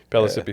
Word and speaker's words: Pellissippi: It's spelled like Mississippi, only with a P. That sounds like a real Southern name to me. Pellissippi State.